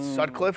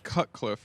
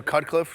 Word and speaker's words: Cutcliffe: John Sutcliffe, is it? It's Cutcliffe, right? Oh, Cutcliffe. Shutcliffe, whatever it is, he is absolutely electric.